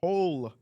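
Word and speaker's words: Tolkien: so his name was token as the token black guy that was a joke but they changed it to say like no you just been mispronouncing my name wrong it's Tolen tolken Tolen and I thought it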